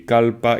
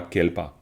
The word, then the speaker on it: kalpa: Parce que le mot en sanskrit, c'est kalpa, clairement. C'est pas kelpa, c'est kalpa.